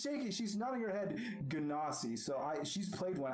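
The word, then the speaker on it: Genasi: she's nodding her head ganassi so i she's played one i haven't chocolate it does it's it's godiva confirmed dnd beyond it has a pronunciation button i'll take it it's janasi um so you see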